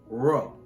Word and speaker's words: rho: The letter that looks like a P is the Greek letter named rho. The sound of the letter chi is like our k, and the letter rho is pronounced like our letter r.